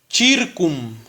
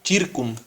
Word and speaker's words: circum: CI se pronuncia como chi. En latín aquí dice circum.